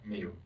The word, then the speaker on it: Miu: how do you spell how do you pronounce that me okay and what's your